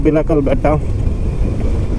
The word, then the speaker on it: Bilikal Betta: The destination is Bilikal Betta. Is it Bilikal Betta or Bilikal Betta? In Kannada, it's pronounced Bilikal Betta.